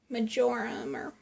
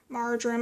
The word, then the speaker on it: marjoram: then I'm going to add a teaspoon Oh majora more marjoram I always mispronounce it we're add a teaspoon and then